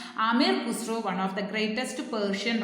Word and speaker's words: Amir Khusro: Once again, listen how to pronounce. Amir Khusro, one of the greatest Persian writer.